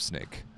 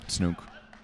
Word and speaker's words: Snoek: Matt Prosser, and Rob Snake. I think. Snoke. Is that what it is? Yeah. Snoek? Yeah. However you pronounce it. I know he's Canadian. Snook. Not snake. There's no A in there.